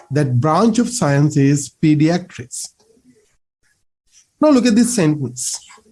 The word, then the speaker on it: pediatric: can use this adjective pediatric. Again, the pronunciation pediatric. The a part එක ඇදෙන්න ඕනේ හයියෙන්. We say pediatric.